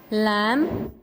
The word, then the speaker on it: lamb: Example में आपने मुख्तलिफ एग्जाम्पल दे सकते हैं, जैसे यहाँ पर दी हुई है lamb, crumb, knob, no, wrist, wrong. lamb में कौन सा साइलेंट लेटर है?